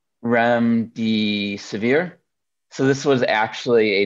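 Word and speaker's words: remdesivir: um two listings for I believe it's pronounced REM D severe so this was actually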